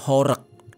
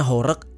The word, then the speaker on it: horeg: dikenal dengan sebutan sound horek Bacanya horek apa horek tapi Setahu gua horek gitu bacanya memang kalau di Jakarta